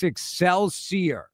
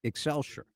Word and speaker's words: Excelsior: Why isn't it Excelsure? I don't know. Would you like for me to change it? I Yes, I would prefer it to be Excelsure. It's not spelled that way. It's not Excelsure.